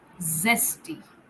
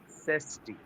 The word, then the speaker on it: zesty: repeat this one zesty zesty yes okay Zed has the pronunciation of Z or Z so it should be pronounced like that there is no feature of J in there so zesty Zoo zesty Sho zoo zooo zoo